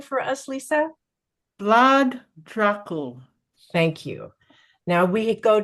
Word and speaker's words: Vlad Dracul: And can you pronounce his name for us, Lisa? Vlad Dracul.